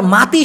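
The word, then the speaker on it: mati: কি তো এই আবার মাতি শব্দের অর্থ হলো এম এ টি আই মাটি হবে কিন্তু উচ্চারণ হবে মাতি এই মাতি মানে হলো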